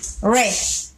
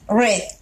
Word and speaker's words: read: El verbo read, si bien es cierto, tiene la misma escritura, la pronunciación es distinta. En el tiempo presente simple, decimos read, read. Y en el tiempo pasado, la pronunciación es la misma que la del color rojo, o sea, red. ¿Sí? En tiempo pasado pronunciamos red.